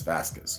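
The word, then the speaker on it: fasces: The two sides of the chair he sits on are a pair of fascists. Oh, it's F-A-S-C-E-S, not F-A-S-T-I-S-T-S, okay? So it's fascists, like I'm pronouncing it different, okay?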